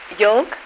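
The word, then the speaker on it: yolk: now let me think how do you pronounce y o l k y o l k yoke yeah that's right now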